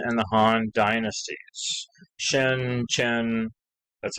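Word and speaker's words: Qin: Shen, Chen, that's how you pronounce it.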